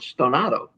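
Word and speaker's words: stonato: do not is it's the Italian word stonado Out Of Tune that's the actual pronunciation does it mean an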